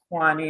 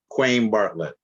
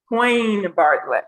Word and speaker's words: Quayne Bartlett: Am I butchering your name as well? Yes, ma'am, but it's okay. But how is it pronounced? I'm an educator. I got to get it right. Quayne Bartlett. Quayne Bartlett.